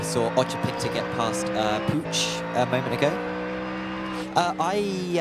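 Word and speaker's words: Puig: the scenes thing here I looked how to pronounce Jose P Poo's name p UI G and I wasn't sure how to pronounce it a Spanish name cuz there used to be a tennis player called Monica P but she was uh Pur tan so she pronounced this P but apparently you pronounce it as pooch in Spain so if anyone from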